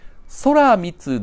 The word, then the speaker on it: 天満: 正式の名前は天満と書いてこれ正式には空 3 つと呼んでそらみつ大自在天神という